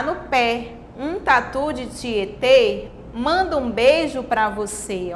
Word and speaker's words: Tietê: aqui com acento circunflexo palavra tietê com acento circunflexo que agora vai indicar um som fechado como se estivesse fechando mais a boca ao pronunciar essa